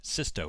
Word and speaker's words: Sisto: Up wide to Soto, and Soto loses the ball. Excuse me, Sisto. Sisto is his name. I've been saying his last name wrong all match.